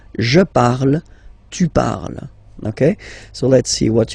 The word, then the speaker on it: parles: Then for tu, you will have to put es. Okay? Phonetically, tu parles. So you've got the two first forms, you pronounce them the same way. You write them differently, of course, because you've got here, and then you've got and s, okay? But then phonetically, they are the same.